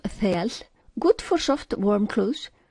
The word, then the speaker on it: þel: The inner layer of wool is soft and warm, called thel, pronounced thel, good for soft, warm clothes.